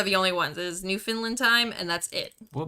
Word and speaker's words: Newfoundland: Is that why they called it Newfoundland? No, and that's not how you say it either. It's Newfoundland. Newfoundland.